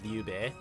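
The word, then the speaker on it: Lü Bu: as Cao Cao, or like, they would pronounce like Lube, or instead of Liube.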